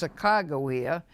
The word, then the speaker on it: Sacagawea: Those of us who grew up in Oregon, well, we know the stories and the legends of Sacagawea, by the way, correctly pronounced Sacagawea, who acted as a guide to Lewis and Clark as they first explored the Great Northwest.